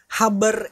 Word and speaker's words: habar: Nah, karena konotasinya menurut pandangan kami pribadi, habar itu seperti orang Kalimantan pelafalan ya? orang-orang daerah kita.